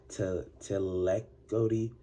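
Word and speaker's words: tlacotli: The Aztecs slaves were pronounced as telacoti, that's singular, or telacotine, that's plural, for a slave.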